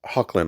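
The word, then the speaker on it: Hoechlin: And the actor is Tyler Hawklin, I believe is how you say his last name.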